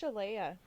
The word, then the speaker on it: Shaleia: Is it Shaleia or Shaleia? It's Shaleia. Shaleia. That's how they pronounce it, yeah.